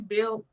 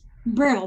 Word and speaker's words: Brill: So we're going to look forward to having Lenora, how you pronounce her last name? Bill? Sorry, Brill, B-R-I-L-L. Yeah, having her back next on your next show, okay?